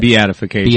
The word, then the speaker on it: Beatification: yeast be beatification how do you say it beatification beatification that's what we tasted earlier okay a